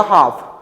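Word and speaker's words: half: book सेल्फ okay ठीक यहां देखो यहां एल के बाद एफ आया है एल के बाद एफ आया है तो एल क्या रहेगा साइलेंट रहेगा ये क्या हो जाएगा कॉफ ये हो जाएगा हाफ हम लोग एल को प्रोनाउंस नहीं कर रहे हैं ठीक है इससे पहले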